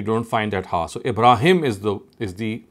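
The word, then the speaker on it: إبراهم: see here you don't find that ha so ibraim is the is the pronunciation here he said in so kala is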